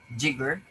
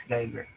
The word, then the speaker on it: Geiger: Sometimes they pronounce this Jigger, sometimes Geiger. The system is based on the mean monthly temperature and the amount of precipitation in a region.